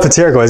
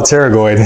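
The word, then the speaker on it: pterygoid: by the way by the way it's not pronounced Pago don't call it pteroid it's call teroid I I I like to mispronounce words cuz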